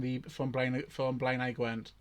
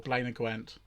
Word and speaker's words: Blaenau Gwent: From also from Blaenau Gwent or Blaenau Gwent, but as the rest of the world seems to pronounce it Blaenau.